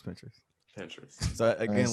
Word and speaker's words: Pinterest: Um, so I do that and the playlist, phone on airplane mode, uh, Pinterest or pin interest, however it's Yeah, it's pronounced. Pinterest. It's Pinterest.